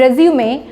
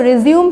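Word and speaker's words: résumé: और बायोडाटा सो अ बहुत लोग इसको रिज्यूम प्रोनाउंस करते हैं so don't pronounce it रिज्यूम इट्स रिज्यूमे रिज्यूम जब होता है जब कोई चीज रुक जाती है और फिर से शुरू होती है दैट इज कॉल्ड रिज्यूम लेकिन ये क्या है रिज्यूमे यू कैन सी एक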